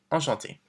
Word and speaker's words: enchanté: And don't forget, if you're a woman, we add the extra E, but it's the same pronunciation. Enchanté.